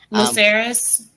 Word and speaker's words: Lucerys: Lucerys.